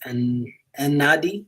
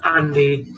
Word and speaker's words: Andy: And Nadi or not? I don't know. Yes, it's Andy.